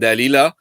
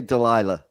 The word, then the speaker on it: Dalila: So it's the story of Samson and Dalila. Maybe in English it's Delia, but Yeah, we say Delilah. yeah, because I keep the Latin pronunciation.